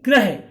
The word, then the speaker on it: ग्रह: तो इसको इस तरह से उच्चारण करेंगे गृह, तो जब हम इसको रा को ऐसे उच्चारण करेंगे तो मुंह का आकार भी ऐसा ही देगा, जैसे गृह, गृह। और इसका गृह माने होगा घर, और जब इसका उच्चारण करेंगे ग्रह, तो इसका अर्थ होगा प्लैनेट, जिसको बुध शुक्र पृथ्वी बोलते हैं।